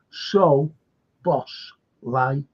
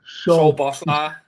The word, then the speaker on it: Szoboszlai: And someone put up, it was great, he said, so boss lie. Yeah. If you know, so boss lie. Yeah, so boss lie. He said lie. L-I-A. So boss lie.